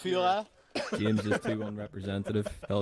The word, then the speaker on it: Führer: You call him Fuhrer. It's pronounced Führer.